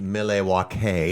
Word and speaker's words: Milwaukee: It's actually pronounced Milwaukee.